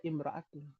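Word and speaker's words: امرأة: Kalau enggak pakai alif lam naqra imroatun bacanya. Harusnya kan maratun ya. Kalau alif lamnya hilang tapi dibaca imraatun. Kalau pakai alif lam jadi almatu.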